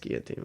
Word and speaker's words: guillotine: It's pronounced Guillotine, whatever." Yeah, it's French. You use half the letters. And Younger the other rep, half you just throw it away.